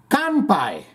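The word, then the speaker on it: 乾杯: The Japanese word for cheers is kanpai.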